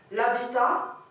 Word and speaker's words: habitat: Par contre, l'habitat, c'est un H muet. Et là, on va faire les élisions, les liaisons, d'accord?